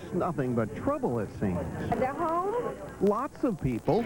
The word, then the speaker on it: Delhomme: Delhomme.